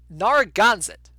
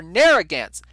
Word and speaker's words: Narragansett: pronounce better number one nara ganseth no i'm still wrong dan like can't nora gansit or narragansett nair so like like the like like the like the hair product there naren get narragansett narragansett there we go